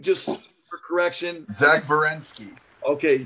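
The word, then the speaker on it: Werenski: Just for correction, Zach Verensky. Okay, so you're saying Verensky, the W sounds like a V.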